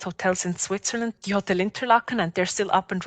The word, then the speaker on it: Interlaken: not, you know, you don't necessarily hear interlockan because it's being pronounced lockin, you're not necessarily thinking like Exactly.